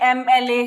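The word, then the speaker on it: MLA: यूज करेंगे, जैसे कि एम एल ए हमने देखा था पिछली वीडियो में। ठीक है, एम एल ए के साथ भी हमने एम है, साउंड आ रही है, तो हमने एन का यूज किया था।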